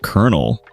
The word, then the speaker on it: colonel: For example, when I found out colonel is pronounced kernel, my mind was blown.